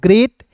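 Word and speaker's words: great: तो जी आर इ ए टी को पढ़ेंगे दोस्तों ग्रेट।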